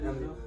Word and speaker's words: Amityville: Amityville? Amityville.